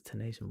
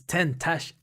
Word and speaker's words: Tentacion: Was Tenacion, right? Okay, it's Tentacion.